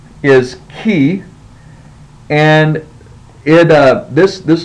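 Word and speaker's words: chi: sound so you the the way you pronounce this letter is key so just think about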